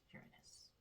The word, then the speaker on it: Uranus: Uranus. Uranus. I mean technically it you can pronounce it either way but the technical pronunciation is Uranus and I was I definitely would have said